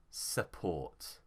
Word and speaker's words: support: Here the stress is on ought, so support.